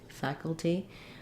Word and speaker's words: faculty: going to be anything it's going to be a little of a schwa sound it'll sound like fac t or d faculty um but you can